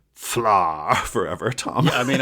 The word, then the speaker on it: Pflarr: It's the expert delve, and before we go too far, I want to say that I could listen to you say "fla" forever, Tom.